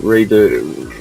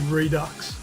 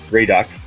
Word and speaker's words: Redux: titled hard reset excuse me hard reset redo Redux however you that must be like let's do it again sort of thing because you had what was it redo what is it do you know you're a